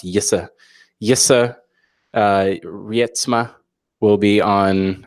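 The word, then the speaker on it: Jisse: Tom Robert Shaw, Yissa, who I've through a lot of very personal encounter and coaching, I've learned how to pronounce Yissa.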